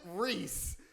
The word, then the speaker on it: Rhys: was like oh yeah it is pronounced reese i was like no